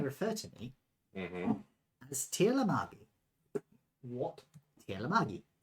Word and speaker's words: Tirlamagi: as Tirlamagi. What? Tirlamagi. Spell it.